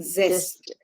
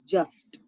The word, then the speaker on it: zest: Zest. Zest. I heard it. I heard the way you pronounced it. I heard it as just. It is like zoo. Zoo. Zest.